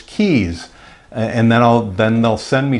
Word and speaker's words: Keyes: My last name is Keys, K-E-Y-E-S. You'd be surprised at how many people misspell it or mispronounce it. Is that Reyes? Is that Keyes? No, it's Keys.